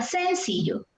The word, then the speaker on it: sencillo: es la pronunciación correcta qué pasa si el asunto estuviera en la sílaba yo sencillo necesito sencillo para comprar mismo así yo tampoco es la cuenta entonces la fuerza de voz está aquí si yo allí está